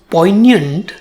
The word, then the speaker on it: poignant: nyant, and the stress falls on the first syllable. In the second syllable, it has the sound y, but it doesn't have the letter y or I, as one would normally expect. But that's English.